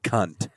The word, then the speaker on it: cunt: So it's pronounced cunt, cunt. C-U-N-T, yeah, exactly. You have to really land on the T.